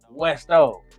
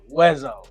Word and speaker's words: Weszo: if he really saying my name is west oh but it's weso you know because that's